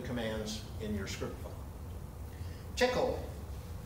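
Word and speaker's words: Tcl: in your script file tickle is how that's pronounced that stands for Tool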